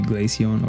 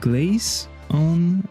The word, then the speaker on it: Glaceon: That would be Glaceon or Leafeon. But is it pronounced Glaceon or Glaceon? Because it is composed of glaze and on, so it could be Glaceon.